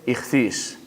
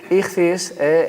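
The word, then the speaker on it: ἰχθύς: resulta que el pez en griego se dice y cis aquí lo he puesto con letras griegas pero bueno créanme ustedes esto se pronuncia dirigirse y cis la primera letra la primera letra de cada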